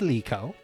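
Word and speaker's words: Likho: My name is Leo. Leo. How do you spell that? L I K H O. It's important that the I is an E sound.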